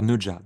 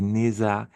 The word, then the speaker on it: Nezha: Neja, la prononciation, parce que j'entends déjà des Neza, des Neuza un petit peu à toutes les sauces. Alors non, Ne en français on connaît bien. Le Jaja, on le maîtrise aussi.